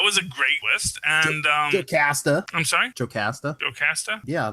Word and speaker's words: Jocasta: It's Jocasta, not Jocasta. It's not like there's not a. They're all made up words. All words are made up, but there are certain ways that you know how to pronounce a word. And if you were gonna have if you had the little apostrophe in it, then it would be Jocasta. But it's Jocasta.